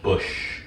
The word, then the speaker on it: Busch: So I guess my first real engineering job, I started out at a company called Bush Manufacturing. Nice. It's spelled B-U-S-C-H. It's not Anheuser-Busch.